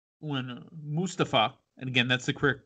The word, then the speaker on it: Mustafa: dana brooke right before the survivor series mustafa and again that's the quick uh correct pronunciation now when mustafa ali was ringside for